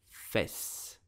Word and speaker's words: fesse: So, how do you pronounce it correctly in French? You will say fesse.